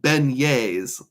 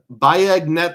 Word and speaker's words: beignets: Chad's Money Minute says, "Those are pronounced beignets." Okay, that makes more sense. Bignet sounds amazing.